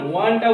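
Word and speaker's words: one: যেমন দেখো এ 1 rupee note, তাহলে এই ওয়ানটা উচ্চারণ হচ্ছে কিরকম বলো তো? ও 29 আঁকা দন্ত ন, এইরকম উচ্চারণ হচ্ছে না? ওয়ান।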